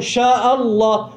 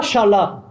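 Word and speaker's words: شاء الله: ce que, sha'a, c'est pas sha, c'est sha'a. Sha'a, yasha'u. Ma, sha'a, Allah. Donc après on fait la liaison sha'Allah, mais c'est pas shala, C'est Sha'Allah, Ma Sha'Allah.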